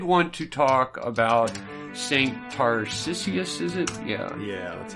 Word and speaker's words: Tarcisius: So, I didn't do a whole lot of research on saints this week, but I did want to talk about Saint Tarcisius, is it?